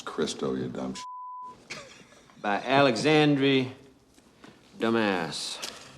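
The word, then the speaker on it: Cristo: famous author's name wrong count Monte krisco that's kristo you dumb by Alexandri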